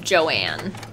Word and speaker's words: Joan: in the kitchen that her name is spelled joan but is pronounced joanne it's driving me crazy